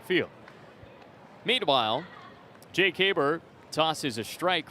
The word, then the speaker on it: Haberer: Haber, number 44, spells his name Haberer, but pronounced Haber.